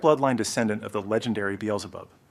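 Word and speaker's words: Beelzebub: It is a direct bloodline descendant of the legendary Beelub. Back in Korea, we mispronounced it as Biljab.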